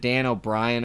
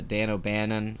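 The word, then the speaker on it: Dan O'Bannon: made I said Dan I said Dan O'Brien or something instead of uh Dan obannon um which was an accident that was just a slip up um I think I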